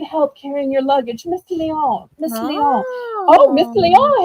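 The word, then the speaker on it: Lyon: Oh, I was just going to say strangely enough, it's pronounced Leon, not Lion, but Leon.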